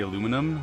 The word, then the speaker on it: aluminum: to the enemy how do you say aluminum i say aluminum but that's because we spell it aluminum we don't spell it aluminium or